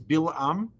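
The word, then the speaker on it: Bilaam: So it's the correct name is Bilam. That's the way the Torah spells it. B-I-L-A-A-M. B-I-L-A-A-M.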